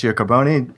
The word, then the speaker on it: Giacobone: And we're joined by Nicolas Giacobone.